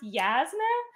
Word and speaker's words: Jasna: And the video that came out this morning was me talking about how I do not care that Jasna is pronounced Yasna. You should just assume all J's are yeah.